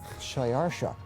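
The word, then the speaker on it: Xšayāršā: His Persian name, in Old Persian, which is his original native language, is Shayarsha. Now that was hard for the Jews to pronounce, so they said Ahasuerus.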